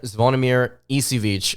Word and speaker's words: Zvonimir Ivisic: and Uganda nyanzo and zvonimir isivic again that's how I believe how you pronounce his name that's how the announcers